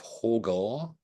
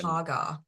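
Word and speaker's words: Hårga: in the village of hogar yeah pronunciation um I think they pronounce it like haar is it hag or H yeah ha okay haar okay that's fine I'll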